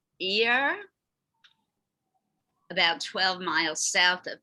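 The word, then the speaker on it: Yerres: can help me out i believe the town is pronounced ear about 12 miles south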